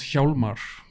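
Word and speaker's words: Hjálmar: Uh, it's called Haar.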